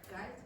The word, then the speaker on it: guys: Guy, you pronounce it, guys. Yes. What's the silent letter? Uh, so remember GU, very often the U is silent.